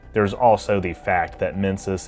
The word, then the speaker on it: Mensis: There's also the fact that Mensis is pronounced similarly to Menses, yet another allusion to the female reproductive system.